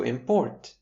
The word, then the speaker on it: import: As I'm sure we understand by now, shifting the stress to the second syllable will give us the verb form to import.